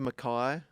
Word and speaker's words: Mackay: and I was going, boys, it's Mackay. I reckon I had to tell them 10 times before they got it. Yeah. They were like, but it's spelt Mackay. I'm like, that's not always how words work. Yeah, like Bondi Beach.